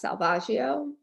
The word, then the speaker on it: Salvaggio: v a g g i o it's SLS Salvaggio it's my maiden name I don't say it